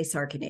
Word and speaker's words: Sarkany: saren how do I said your last name wrong because now I know how you say it I say sarin is that okay that's fine SAR just